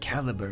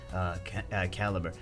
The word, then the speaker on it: Calibre: I know I'm going to be saying that, but Bagel, no, you pronounce it Caliber when it's with this guild, Caliber.